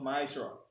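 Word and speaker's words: מעשר: It means tenth in the Hebrew and is pronounced ma'ashra.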